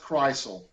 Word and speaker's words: Kreisel: everyone knows it's pronounced kreisel okay okay like the car but this not quite well listen thank you